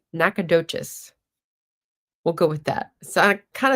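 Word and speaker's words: Nacogdoches: The G is silent. Nackadoc. Nakadocious.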